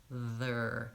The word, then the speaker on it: there: sound practice make sure you have the good tight back American ear and then you're gonna add the th sound before that so er they're there and I do have a video about pronouncing there you do have to start with your tongue forward for the th and back for the ER and if you practice